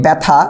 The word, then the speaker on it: ব্যথা: আকারটা আমরা ব্যবহার করছি যদি বলি ব্যথা এখানে দেখো জ ফলার সাথে কোন আকার নেই আমরা কিন্তু ব্যথা উচ্চারণ করার সময় আমরা কিন্তু আকার ব্যবহার করছি যদি তুমি বলো শ্যামল